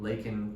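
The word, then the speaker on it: Laken: are um he uh when he says uh lakan Riley's name he mispronounces it and says Lincoln Riley I was sitting only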